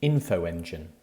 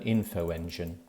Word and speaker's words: Infoengine: spelled c y m r u next section infoengine infoengine is the online directory of third sector